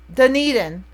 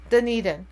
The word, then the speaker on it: Dunedin: never say it right Doon indan the knee Dunedin yeah Dunedin okay yeah that's where my daughter is hi